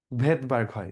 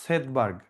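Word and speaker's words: Svedberg: সামনে এস আছে বাট ওটা উচ্চারণ হয় না।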